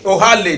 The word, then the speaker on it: Ohale: Ihele, that's the Ohale, that's the right pronunciation.